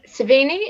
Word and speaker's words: Cerveni: So today we've got Mike Cerveni. Is that the right pronunciation? Yeah, you got it.